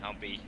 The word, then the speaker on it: Humpy: Yeah, it's definitely Humpy, but I've heard it. I've been called worse things. So I mean, however you guys want to pronounce it, it's fine with me. But yeah, we pronounce it Humpy.